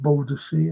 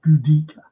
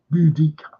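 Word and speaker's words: Boudica: It's like u you know when people say about Bodhis it's not. It's Budika Budika.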